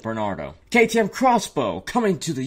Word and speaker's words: Barnato: bentley's future sports car it's b-a-r-n-a-t-o i'm going to pronounce it bernardo ktm crossbow coming to